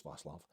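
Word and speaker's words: Václav: It's not Vaclav, it's Vaclav.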